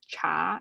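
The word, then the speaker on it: 茶: It's pronounced as cha in Mandarin.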